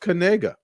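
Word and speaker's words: Knigga: come out and say, pronounce it how it looks, with the K silent. I'm sure that's gonna happen. But it's pronounced Kanega.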